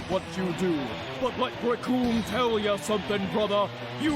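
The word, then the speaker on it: Recoome: to this man, because the name's Raccoon. It rhymes with doom.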